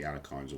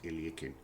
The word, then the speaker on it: Alekhine: But it's generally called the Alakines or the I think the correct pronunciation of Alak Alexander Alakine's name is Ilikin.